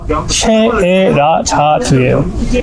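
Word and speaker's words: 셰에라자드: 한국분들이 세레자드라는 이름을 쉐레자 그 정확한 발음이 뭐지 샤을 때 세레자는 아닙니다 샤트 그게 국립 국어국어학원인가? 거기서 정확한 한국 표기가 쉐에라자드예요.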